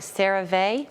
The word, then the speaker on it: CeraVe: Am I saying it right? CeraVe? Yep. Well, no, actually, CeraVe, but CeraVe. It doesn't really matter. It's a made-up word.